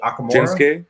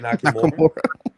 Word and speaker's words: Nakamura: And how do you pronounce his name? Is it Akamura? Shinsuke Nakamura.